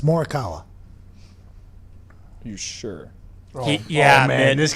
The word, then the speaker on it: Morikawa: Congrats to Marty Fish and Colin Mordikawa for winning their respected golf tournaments this weekend. I mean, that's not how you pronounce it.